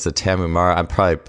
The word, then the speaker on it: Tarahumara: And you think of the I think it's the Tarahumara, I'm probably mispronouncing it, but the tribe that runs in the minimalist sandals, the homemade sandals, basically. And yeah, you were right, Tarahumara, yeah.